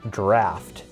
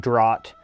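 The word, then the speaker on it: draught: of despair and yes that is pronounced draft for those of you who don't know it's a different spelling basically between the us and the uk so draft d-r-a-u-g-h-t is pronounced draft not drought um or drought and it also has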